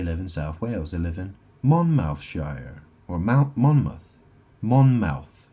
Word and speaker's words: Monmouth: They live in Monmouthshshire or Mount Monmouth. Monmmouth, it's spelled M O N M O U T H. Monmouth.